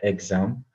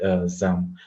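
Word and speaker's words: XAMPP: Some people pronounce it exam. Some people pronounce it ZAM.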